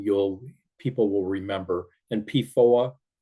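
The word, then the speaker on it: PFOA: people will remember and pooa reminds you it will rhyme with lawn MOA or Noah so pooa and posos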